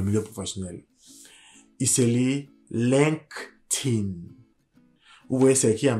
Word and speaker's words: LinkedIn: Il s'écrit L-I-N-K-E-D-I-N. Faites attention à la prononciation de ce mot-là parce que il peut être vraiment décisif, surtout dans le milieu professionnel. Il se lit LinkedIn.